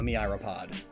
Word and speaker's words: myriapod: In fact, the oldest land fossil we have is of a myriapod. I've been pronouncing that wrong the whole time.